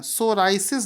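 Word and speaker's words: psoriasis: सोरायसिस दिवस क्यों है इसका स्पेलिंग थोड़ा सा आपको लगेगा यहां पर देखो पीस आफ लैंड होता है आपको सिर्फ यह पढ़ना है सोरायसिस देती यहां पर साइलेंट होता है यह हर साल 29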